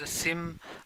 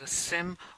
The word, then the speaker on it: SIEM: people call us as a sim uh or it depends on which part of world you are but like you can pronounce this as a sim or you can remember